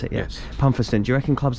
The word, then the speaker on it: Pumpherston: Do you think clubs like this, it's Pumpherston, right? Is that how you pronounce it? Yeah. Yes. Pumpherston.